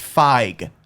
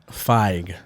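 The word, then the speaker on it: Fieg: Picture F, an eyeball, and a G. It's Feig. Feig.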